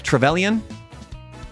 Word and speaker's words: Trevelyan: I always get the name wrong. Alec Trevelyan?